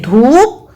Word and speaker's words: धूप: देखिए धूप और धुन, तो दोनों की मात्राओं में कितना अंतर है? बड़े ऊ की मात्रा का उच्चारण बड़ा हो जाता है, छोटे ऊ की मात्रा का उच्चारण छोटा रहता है।